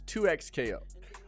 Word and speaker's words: 2XKO: So not 2 times, it's 2XKO.